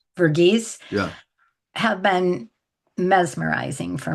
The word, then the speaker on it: Verghese: Verghese. Verghese Yeah.